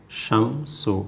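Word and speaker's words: الشمس: আছে এটাকে বলে আশামসু আশামসু এই যে আশামসু শব্দটা যে আছে এখানেও কিন্তু এই লামের উচ্চারণটা হয় নাই আশামসু লামের উচ্চারণটা হয়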